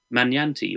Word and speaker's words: Magnanti: actually written by Dr brook mananti or magnanti is how you spell it uh she is the